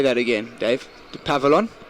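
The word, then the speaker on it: Dupavillon: Dupavilon. Pronunciation's fantastic.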